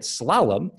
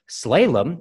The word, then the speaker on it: slalom: word and its pronunciation call it slalom with the accent on the first syllable and you will be right slaylem is also an acceptable